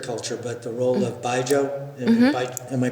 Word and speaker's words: baijiu: But the role of baijiu. Am I pronouncing it right? Baijiu.